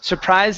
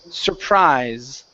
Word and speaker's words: surprise: Uh, remember the e at the end of words is silent. So instead of saying surprise, the word is surprise.